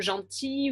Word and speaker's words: gentil: Dans les mots comme gentil ou outil, on entend très peu le L. So you may notice that some of the words are more accentuated or less accentuated. In words like gentil ou outil, you hear it very slightly. It kind of blends with the I.